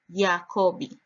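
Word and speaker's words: יעקב: Jacob is pronounced in Strong's H3290 as Yaakobi, Yaakobi, and written in the consonantal text Yod Ein Kof Bet.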